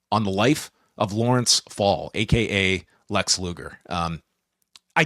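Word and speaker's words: Pfohl: Luger from day one so fall PF o l silent p a rarity could you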